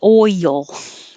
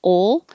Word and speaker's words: oil: it makes a y so it's almost two syllables i wrote it as two syllables here but you don't have to make it deliberately oil just oil if you say ol it's um halfway there you just didn't rise enough oil so oil slick